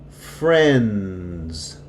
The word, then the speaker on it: friends: But when it is multiple, when there is an S at the end of friend, or send, when there's an S, the D becomes silent. Sends. Friends. It's going to sound like these here. Okay, so this goes with any combination of word that ends with DS. Without the S, you hear it. Friend. With the S, you don't hear the D.